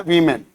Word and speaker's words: women: और इसको WOMEN को यहां पे कोई असर नहीं डालना आपको, लेकिन सिर्फ और सिर्फ इस वू को वी बोल देना है, वीमेन, क्या बोलना है, वीमेन।